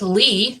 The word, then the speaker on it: Lea: And my middle name is pronounced Lee, but it's spelled like Leah, L-E-A.